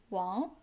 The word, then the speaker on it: 王: Pronounced as Wang.